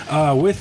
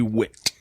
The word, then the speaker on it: Wit: I have a Resurgence Brewing Company Loganberry Wit. Is it pronounced wit or vit? I think it's Wit.